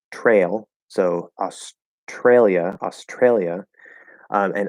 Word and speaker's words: Australia: so australia australia and other people will blend that t into a ch before the r consonant not the r val just the r consonant like i do um and we'll say tr australia australia now in this